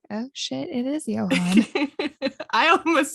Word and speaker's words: Johann: No, I said John and I was pronouncing it John until you said Johann. And then I looked at my notes and I was like, oh shit, it is Johann.